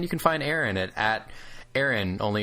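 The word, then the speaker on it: Exrin: And you can find Aaron at Aaron, only it's spelled E X R I N, but the X is silent.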